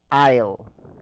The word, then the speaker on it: aisle: so this word is aisle I am okay so the same the same pronunciation with this one with this wait wait wait with this I'll I am yeah so like this